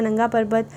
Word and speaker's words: नंगा पर्वत: इसके अलावा नंगा पर्वत या नांगा पर्वत है, इसकी प्रोनाउंसिएशन ये किस रेंज में आती है?